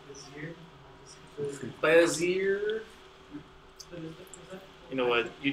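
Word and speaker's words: Bézier: My last name's, and these are Bezier curves. So it's French, Cartier, Poincaré, Bezier. Everyone try and say it? Bezier? Bezier. Bezier, yes. Am I wrong if I said Bezier?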